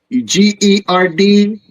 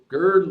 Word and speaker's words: Gerd: Gerd Ludeman, I think. How do you spell that? G-E-R-D. Gerd. G-E-R-B. No, D is in dad.